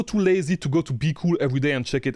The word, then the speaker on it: BQool: If you know me, you know I used to call it BQOOL. I have the right pronunciation now, it's called BQOOL.